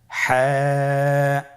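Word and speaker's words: حاء: হা হরফটি কিভাবে উচ্চারিত হবে? হা হরফটি উচ্চারিত হবে কন্ঠনালীর মধ্যখান হতে।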